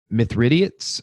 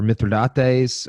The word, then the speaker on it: Mithridates: pitted Rome against the myth riddance or myth rIDOT days I spelled mi thr idat es this I've heard it Mithridates or myth or Dante's I've heard it pronounced both ways and I'm not sure which one is correct but there's a rebellious